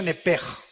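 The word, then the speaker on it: nefesh: Digo, por favor, esta palabra alma en el original hebreo es la palabra nepes. Apúntala como suena nepesh con sh se pronuncia nepej.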